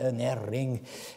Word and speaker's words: unerring: Le mot infaillible, enfin l'expression infaillible véracité étant là pour rendre unerring, U-N-E-2-R-I-N-G, il faudrait le prononcer à l'écossaise, unerring veracity, sa véracité qui n'erre pas, qui ne se trompe pas, qui ne saurait errer.